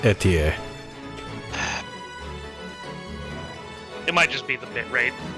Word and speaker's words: Etie: Yeah, her name is pronounced Etier.